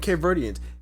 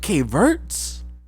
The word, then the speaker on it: Cape Verdeans: He was working with Cape Verdeans. He called it Cape Verts. Nigga, you couldn't even say it right.